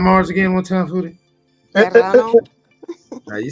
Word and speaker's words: Serrano: Serrano.